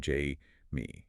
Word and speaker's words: Jaime: Jaime Hoerricks, and by the way, she pronounced her name Jamie.